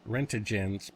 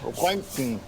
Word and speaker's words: Röntgen: That the maximum radiation level is between 10 and 100 rentigens per hour. I think that's another name for rent. At least he tried to pronounce Rentigens. He tried. It's called Röntgen.